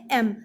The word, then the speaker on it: M: ध्यान दीजिएगा, बहुत लोग इसको यम पढ़ते हैं, यम, यल, एन, ऐसे लोग पढ़ते हैं, है ना। वो गलत प्रोनाउंसिएशन है, वो गलत उच्चारण है। इसको ऐसे पढ़ते हैं एम, इट्स एम, not Yama.